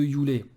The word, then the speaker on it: Yule: Donc, alors moi je prononce Yule à l'anglaise, hein.